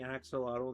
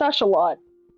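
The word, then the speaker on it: axolotl: Technically speaking, we we've been mispronouncing axelottle the entire time. That's Ashelot. It's Ashelot. Yeah.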